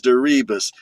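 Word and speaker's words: Deribas: It it rhymes with that song. D E R I B A S. The name is Darias.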